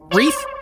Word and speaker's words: wreath: I mean, my boy is literally a reef. wreath.